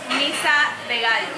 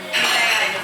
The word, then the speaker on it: Misa de Gallo: I like there's a local band called Misa de Gallo. Miso. Yeah, de Misa Gallo. de Gallo. Yeah. Misa de Gallo. How do you spell that? M-I-S-A and an E, and Gallo is G-A-L-L-O. Misa de Gallo.